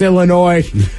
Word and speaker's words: Illinois: the S, Illinois.